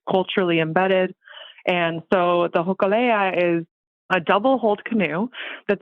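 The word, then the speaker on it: Hōkūleʻa: I don't know how to say the Hokulea?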